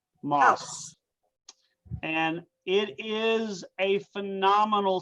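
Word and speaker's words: Maus: Moss. It's spelled M-A-U-S.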